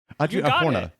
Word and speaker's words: Adria Arjona: Adria Arjona.